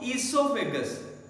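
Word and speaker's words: esophagus: ईसोफेगस। Name जरूर ओ से start हो रहा है, बट ओ बेटे साइलेंट रखना है।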